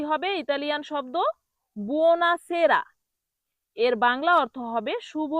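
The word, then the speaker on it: buonasera: বুনাসেরা এর বাংলা অর্থ হবে শুভ সন্ধ্যা। অনেকেই ভুল করে এটাকে বলে বুনে ছাড়া। কি বলে? বুনে ছাড়া। সঠিক হল বুনাসেরা। সঠিক উচ্চারণ কি হবে? বুনাসেরা।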